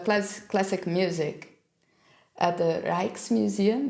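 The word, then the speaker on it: Rijksmuseum: classic music at the reiches Museum did you say it right reich's Museum perfectly yeah that one so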